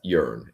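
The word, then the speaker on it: earne: That's yearn. It's spelled E A R N E, but it's yearn.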